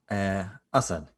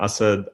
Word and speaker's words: Asad: Next up, Asad. How you doing, buddy? Hi, doing well. Killed it at the pronunciation of my name as usual, Renee. Yeah, so I'm Asad.